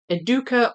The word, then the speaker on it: Educa: The stress is on the middle syllable, right? So, it's either educa or educa, but it could be E and it could be K. Eduka probably doesn't care how you pronounce their name.